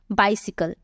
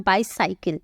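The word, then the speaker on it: bicycle: कई लोग इसे गलत प्रोनाउंस करते हैं, बोलते हैं बाईसाइकिल। बाईसाइकिल कुछ भी नहीं होता है, बाइसिकल होता है, बाइसिकल होता है, ये होता है राइट प्रोनाउंसिएशन।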